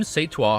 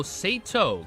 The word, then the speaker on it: Sato: Kim Seitua, however, took the brunt of the explosion. I'm going to say Kim because I'm mispronouncing the last name. Sato? Oh, Sato. Kim Sato, however, took the brunt of the explosion.